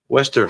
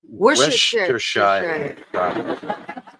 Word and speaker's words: Worcestershire: You want to hand me the Worcestershire sauce? What did you say? Yo, Worcester sauce.